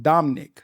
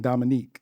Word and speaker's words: Dominick: You, but you pronounce it Dominic. Yeah. D O M I N I C K. Oh, I kept saying Dominique.